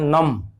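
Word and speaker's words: numb: एक चीज रोचक है इसके बारे में कि यदि ER हटा दें, हम इतना ही लिखें, तो इसका उच्चारण हम करते हैं नम, ब नहीं। जब ER जोड़ते हैं तो नंबर हो जाता है, नंबर।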